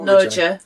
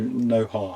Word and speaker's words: Noja: Noja, yeah. Yeah, it's spelt with a J, but obviously their J's are their H's, so Noja.